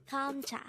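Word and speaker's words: 감자: term for potato is hamcha again it's kamcha this is pronounced as a two-syllable word the first syllable is gum the second syllable is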